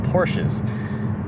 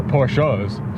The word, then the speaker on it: Porsches: of Beamer fans like Porsches. Or Porsches, sorry about that. The right way to pronounce it.